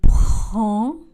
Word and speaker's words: prends: Je prends. Le D et le S sont des lettres muettes.